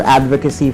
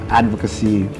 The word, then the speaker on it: advocacy: That's how you pronounce advocacy. Oh. You pronounce it correctly. Sorry, I have to say because some people how do other people say it? Advocacy. Although it's already correct because it's it's a proper Filipino way of saying it.